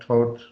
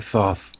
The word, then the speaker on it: Thoth: be learned from Thoth I don't know if I'm pronouncing that totes I like Thoth yeah it's like thought like dropping saucer you